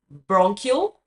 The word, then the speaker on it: bronchial: Now, let's see how to pronounce both of them. So, brônquio. Então, o grande é bronchial.